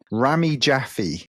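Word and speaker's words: Rami Jaffee: a guy called and he I've got to pronounce his name right Ramy jaffy you know Ramy jaffy so yeah you get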